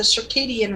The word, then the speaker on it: circadian: what we've evolved on she's not even pronouncing it right eating it circadian not certainly yeah it's the circadian rhythm not the not sarcasm first time she's pronounced